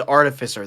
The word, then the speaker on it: artificer: as an art artist artificer so it is artificer that's artificial yes and that is like the